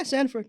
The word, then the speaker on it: Sandiford: Yeah, Sandiford.